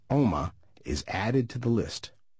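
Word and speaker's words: Omagh: name for a small town in Ireland called Oma. I type the word I want to change into the Pronounce This box. This is how it is pronounced now. Omig.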